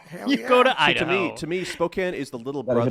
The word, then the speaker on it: Spokane: To me, Spokane is the little Gotta hit brother up that of Ruby Ridge Memorial.